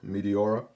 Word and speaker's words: Meteora: Kind of sounds like like a planet or something like a combination of meteor with aura. Meteora.